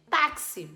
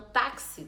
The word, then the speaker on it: táxi: Única produz dois sons então táxi tem quatro letras mas tem cinco fonemas porque o X tem um som de KS esse esse x que